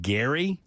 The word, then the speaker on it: Gerry: It's a combination of, I think his name was pronounced Gary.